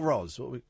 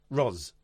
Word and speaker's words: Roz: Is this Ross or Roz? Roz. I would write that phonetically. Put a Z. Put Z at the end.